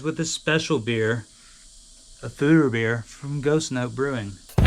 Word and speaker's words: foeder: a special beer a food or beer from Ghost note Brewing so we 've got food or beer not photo beer or however else